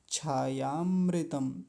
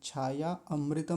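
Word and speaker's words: छायामृतम्: कैसे बोलेंगे? छायामृतम। छायामृतम। छाया अमृतम नहीं, छायामृतम।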